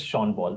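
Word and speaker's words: Sean Paul: n p a l actual pronunciation of this word is sha Paul so this is how it is you have to instead of getting deeper into this just understand and learn this pronunciation PA is not SE PA actually it is sha Paul similarly this it is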